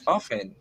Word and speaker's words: often: and often. Yeah, those are Yeah, two because we correct. have the English pronunciation and the British pronunciation. It could be often or often.